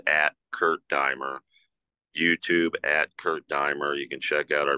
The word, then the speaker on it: Kurt Diemer: Yeah, it's Kurt, K-U-R-T, and it's Diemer, D-E-I-M as in Mary, pronounced Kurt Diemer.